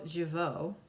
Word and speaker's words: Jeuveau: So now we have Jeuveau. What is this? By Frownlines. Hello, Jeuveau. I pronounced that right.